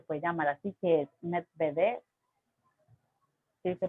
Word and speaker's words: Medvedev: títere, se lo puede llamar así, que es Medvedev. Sí, se pronuncia así, ok, bueno.